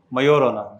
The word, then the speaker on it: Majorana: Its name is Majorana. J is silent.